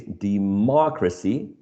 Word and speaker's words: democracy: So it's a third syllable from right to left hand.